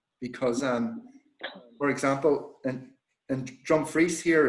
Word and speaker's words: Dumfries: And by the way, one word warning: you have to spell it phonetically, because, for example, in Dumfries here, it's DRUMFRIES, which phonetically is Dumfries.